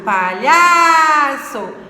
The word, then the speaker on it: palhaço: Agora, a palavra palhaço. É o lhá. Então, é a penúltima sílaba. Última, penúltima. Palhaço.